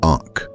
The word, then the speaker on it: ankh: Its name is the Ankh. It is pronounced Ankh, and its meaning is simply one word: life.